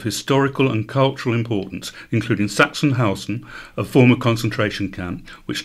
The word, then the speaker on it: Sachsenhausen: Sachsenhausen. Sachsenhausen.